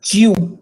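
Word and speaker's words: 十: Pronounce number 10 as Jew. Number 10 as Jew. You have to hear the sound of Y there.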